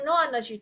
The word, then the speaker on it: know: Nah, di sini yang kata yang you never know ini eh know-nya itu memang eh eh pronoun-nya itu mirip dengan kata no.